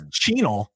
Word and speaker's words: Chenal: It's Chenal. I want to say that the pronunciation guide is Chanel, but it's spelled wrong.